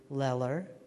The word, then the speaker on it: Eller: at least just remember the word eller it rhymes with stellar hi i'm ron Ornstein